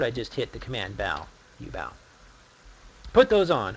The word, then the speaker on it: Beau: name oh I'm sorry as in bow and arrow I always have to